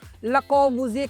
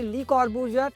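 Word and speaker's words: Le Corbusier: कोशिश कर रहे हैं, बट क्योंकि उनका नाम फ्रेंच लैंग्वेज में है तो इसलिए इसको ले कॉर्बूजिए कहना ही करेक्ट प्रोनाउंसिएशन होगा। बट आप अपने कंफर्ट के हिसाब से इसे ली कॉर्बूजियर या ले कॉर्बूजिए पढ़ सकते हैं।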